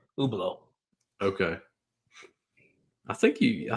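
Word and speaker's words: Hublot: do you spell that you how do you spell that oblo yeah it's h u b l o t ubo okay I think you I think you mentioned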